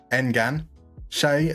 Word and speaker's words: enganche: 3 syllables. N as in English men. Gan as in Gander. Engan. Che as in Che Guevara. Enganche. Enganche. Beautiful. Stress on the second syllable.